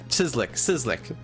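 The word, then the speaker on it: Cieslik: Sizlik. Yeah, its spelling looks like it's complicated, but it's just Sizlik.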